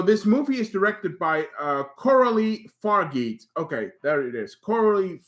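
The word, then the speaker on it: Coralie Fargeat: So this movie is directed by Coralie Fargeet.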